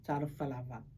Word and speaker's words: talofa lava: We pronounce the vowels a, e, I, o, u.